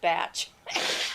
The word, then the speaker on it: Bach: Just because it's spelled like the German Bach doesn't mean it's pronounced that way.